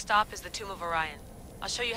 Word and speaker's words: Orion: The next stop is the Tomb of Orion. I'll show you how to get there when I get back. Damn it. Altair.